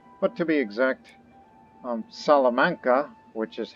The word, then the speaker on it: Salamanca: our control now but to be exact um salamanca which is how it's pronounced correctly which i'm trying to learn a